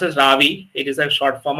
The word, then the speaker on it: Ravi: like my kind of name but it is pronounced as Ravi it is a short form of iravati so